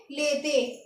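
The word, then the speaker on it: l'été: लगा हुआ है और इसको हम प्रोनाउंस करेंगे लेते क्या बोलेंगे लेते समर लेते मींस होता हमारा समर अगर हमें समर बोलना है तो हमें बोलना पड़ेगा लेते नेक्स्ट आता है हमारा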